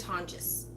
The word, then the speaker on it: Tonjes: think I names Meghan tonjes I'm sorry care of my hernia but our last name is teal in jes but she pronounces the J so she didn't pronounce in Spanish like anyway she did